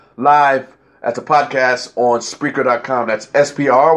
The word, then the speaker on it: Spreaker: at the podcast on spreaker com that's SPR we spell it because people don't know whether it's speaker or spreaker so always spell it it's SP r EI ke r spreaker com-mn so once again share